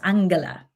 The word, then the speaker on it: Angela: And learning through her lens, Angela, I call her Angela, but really her name is pronounced Angela.